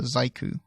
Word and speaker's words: ZEIKKU: You can get Dom at Dom Layton, and you can get at _ZEIKKU, or Zaiku is how I pronounce that.